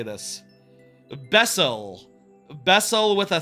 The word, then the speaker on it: B3SSEL: Bessel.